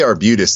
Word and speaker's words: Arbutus: I say Arbutus because that's a town outside of Baltimore.